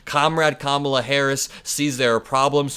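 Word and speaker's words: Kamala: Donald Trump's nickname comrade kamla only works if you pronounce kamla's name correctly because of the alliterative first syllable comrade comma com com where he says comrade Cala it just doesn't really make sense in the same way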